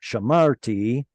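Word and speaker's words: שָׁמַרְתְּ: Here, both of them are going to be silent, as it were, because honestly, this used to be shamarti, and we were just lazy and dropped off the chirik yod. Shamart.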